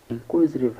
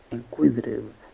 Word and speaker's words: inquisitive: Inquisitive has four syllables, and we have in, koi, koi. We have zitive, inquisitive. The stress is on the second syllable, koi, inquisitive.